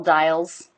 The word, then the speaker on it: dials: So these are all dials. And these, of course, are buttons. Dials and buttons. Let's start with dials. We have the I diphthong and then a dark L.